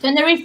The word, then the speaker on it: Tenerife: And it is about this family who are, um, I don't know how to pronounce it, Tenerife. Tenerife, yeah.